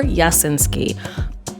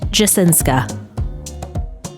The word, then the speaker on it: Jasinska: All right, so today I'm going to be reviewing The Midnight Girls by Aliciajasinska or Jasinski. Correction, it's pronounced Jasinska.